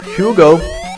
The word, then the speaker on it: Hugo: out about my ancestry who the cares but um well Hugo or who as we pronounce it in Finnish yeah it it indeed